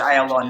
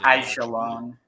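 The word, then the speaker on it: Aijalon: It's pronounced Ayalon, not Ajalon.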